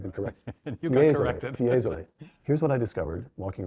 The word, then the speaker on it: Fiesole: Fiesole.